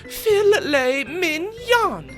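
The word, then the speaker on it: filet mignon: file it mnan God that's pronounced Phil Minon what's a Philly it's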